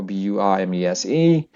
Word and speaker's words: Burmese: those letters so example b u r m e s e so the stress is here Burmese and and then